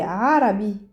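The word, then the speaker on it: عربي: on écoutant tout doucement quand je dis Arabi et arabe c'est pas la même chose Arabi arabe alors le vrai modo arabe c'est Arabi Arab arabe voilà on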